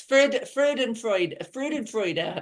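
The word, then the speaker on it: Freudenfreude: And I am going to mess this word up as well, but Freudenfreud, finding joy in others. Oh, Can you tell uh, us, or how do you pronounce that? yes, Freud and Freud.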